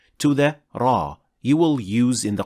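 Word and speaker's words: ر: properly now how is raw pronounced in the Quran to pronounce ra properly two organs will make contact with each other the tip of the tongue and the alvea ridge raw ra raw we'll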